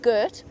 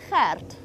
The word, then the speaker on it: Gert: It's that G sound. So it's not Gert, we don't say it Gert, it's Gert. And you have to roll your R slightly to get it absolutely right.